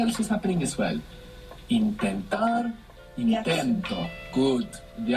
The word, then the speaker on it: intentar: Intentar, intento. Good, the accent. Intentar, we have the accent on the end.